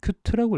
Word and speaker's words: Qt: 큐트라고 읽더라고요.